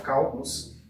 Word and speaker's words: cálculos: Então vamos lá, tá aqui a palavra cálculos, ok? Cálculos. Vou já deixar ela separadinha aqui. Vamos tentar identificar qual é a sílaba tônica. Cálculos. Então a sílaba tônica é esse cal aqui.